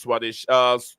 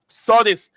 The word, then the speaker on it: Sodis: Thank you very much, Swadish. Sodis. Sodis is the name.